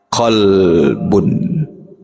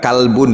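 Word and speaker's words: قلب: martabat hati yang kedua itu adalah qbun qbu bu bukan kalbun Ya beda ya ya kalbun hati-hati pengucapannya itu kalbun tuh Gunggung ni qbun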